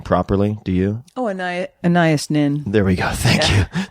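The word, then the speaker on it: Anaïs Nin: Now, I don't know how to pronounce that name properly. Do you? Oh, Anna Annias Nin.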